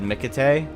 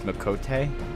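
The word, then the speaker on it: Miqo'te: For a long time, I said Mikate, but it's Mikote.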